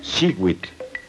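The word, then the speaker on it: xiuh: Cada cuadrete contiene el color turquesa que se pronuncia shiw.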